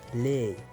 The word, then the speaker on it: laid: كذلك هنا يدي على فان لكن لا يتم نطقها laid.